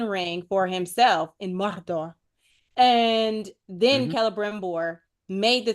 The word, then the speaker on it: Mordor: So yeah, like you gotta roll your R's. yeah, Mordor. Mordor.